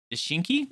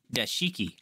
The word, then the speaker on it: Dashiki: Dashinki? Is that how you say it? Dashinki? Or Dashiki? Dashiki. I put an N in there on accident.